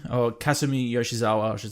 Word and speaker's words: Kasumi Yoshizawa: out, is, Kasumi Yoshizawa is her name, or Kasumi Yoshizawa, I should say, is the pronunciation.